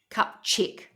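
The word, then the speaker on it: Kupczyk: nurse named Olga, and I think it's pronounced Kupzik. You'll know, Schmitty, if I tell you if it's spelled. It's spelled K-U-P and then C-Z-Y-K. Kupchik.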